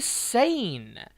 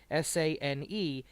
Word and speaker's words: Sane: The way her given name is spelled, her new given name, Sane, S-A-N-E, in Japanese, it should be pronounced Kairi Sane, because Japanese does not have a silent E.